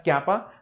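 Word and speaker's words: κ: It's not exactly K, it's slightly different. It's kappa, looks like K, that's all. Pronounced as kappa, this is pronounced as K, that's all.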